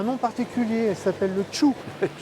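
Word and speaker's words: Thiou: Elle s'appelle le Tchou. Ça s'écrit T-H-I-O-U, ça se prononce Tchou.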